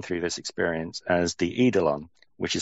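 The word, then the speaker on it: eidolon: person that's gone through this experience as the edelon which is spelled e i d o l o n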